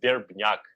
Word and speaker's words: Verbnyak: name is and last name is durbin yuck so we ER be nya Kay okay thank you could